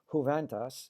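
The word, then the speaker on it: Juventas: I hope even in Boston they pronounce it in a Hispanic way, Juventus, new music ensemble.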